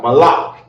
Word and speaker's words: Malak: thing according to God Malak in the Hebrew is how you say King okay and Kings have